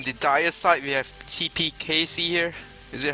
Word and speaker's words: Kece: dite we have TP casy here is it how you pronounce your name Casey casy it's if you go for Indonesian pronunciation it's TP catche okay T cat thank